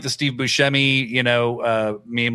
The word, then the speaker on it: Buscemi: I'm like the Steve Buscemi, meme, like, hello, fellow kids. Also, by the way, Steve Buscemi hosts this Apple podcast about people who like famous thieves and stuff. And he said Buscemi.